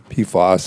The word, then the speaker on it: PFAS: pfas there's also pfos posos is typically how it's pronounced and basically there are